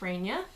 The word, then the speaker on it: Raynia: really either name but my full name now is ray Nia and that's how you pronounce it how thing I've noticed